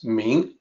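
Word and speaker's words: 明: So first of all, the pronunciation is easy. This character is Ming.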